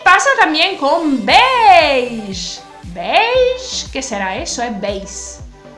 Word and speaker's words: beige: y pasó también con veis qué será eso es beige el italiano se pronuncia como en francés muchas palabras francesas se